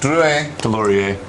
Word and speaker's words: Deslauriers: So, Jeff Jeff Deloreier, there you go. That's the correct way to say the name, everybody.